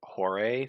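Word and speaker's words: Horae: There's a Greek god of seasons I was gonna name it after, but you pronounce it Hore, so I'm not gonna name this dragon Hore.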